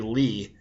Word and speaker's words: li: the same word it's going to be Lee and that's spelled Li I and so it's a